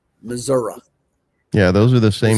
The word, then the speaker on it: Missouri: It's Missouri. We pronounce it Missouri.